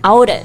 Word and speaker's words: outage: 对，而且我们要注意 outage 这个单词的发音，它的拼写是 O-U-T-A-G-E。